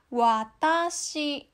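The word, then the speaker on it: わたし: Kayak misalnya kosakata watashi, ini dari bawah ke atas bunyinya. Watashi.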